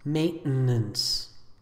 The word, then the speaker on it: maintenance: the adjective hierarchical hierarchical this next word i pronounce maintenance you may prefer the pronunciation with which may